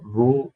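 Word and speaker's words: ρ: जिसको रो बोलते हैं। ठीक है? प्रोनाउंस करते हैं।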